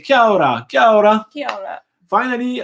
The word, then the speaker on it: Kia ora: But thank you, Glenn, for confirming how to pronounce it. Sajid says, Kia ora, kia ora.